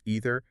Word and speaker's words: either: Generally speaking, in American English, the dominant pronunciation is either and neither. Right? That's what I usually say. And in British English, you will more frequently encounter either and neither.